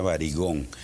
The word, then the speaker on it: Varigone: pregunta qué tomar, sí, se llama Varigone, se pronuncia varigón, Varigone, pero ese es uno solo, de los tantos que hay.